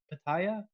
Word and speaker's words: Pitaya: Pitaya?